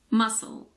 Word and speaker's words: muscle: scent science scissors it's also silent after the s in this word muscle muscle that's just an exception that's important to know and now the letter